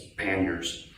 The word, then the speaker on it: panniers: heard other pronunciations but I Googled it and it told me it's French and it's panniers I had to look